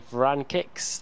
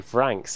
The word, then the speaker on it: Vranks: 11th for Lee Berridge, 12th Max Wright, 13th for Gregory Vrankix, then for Gregory Vranks. I've been saying it wrong all night.